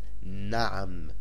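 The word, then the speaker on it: نعم: It is pronounced na'am, and na'am means yes.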